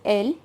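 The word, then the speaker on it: elles: they the other people its pronunciation is l and again you will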